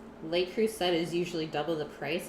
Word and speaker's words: Le Creuset: Yeah, creuset is pronounced creuset. Le creuset.